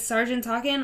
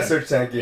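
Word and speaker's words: Serj Tankian: With Sergeant Talkin. I'm not sure that's how you say his name, but I think it's like Serge Tankian or something. Yeah, Serge Tankian.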